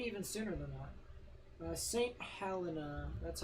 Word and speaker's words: St Helena: y um maybe even sooner than that uh St Helena that's how you pronounce it so Morgan was right yeah Morgan